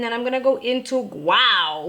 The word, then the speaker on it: guao: I'm gonna go into wow which guao is uh it's spelled g-u-a-o is basically saying wow and I'm gonna go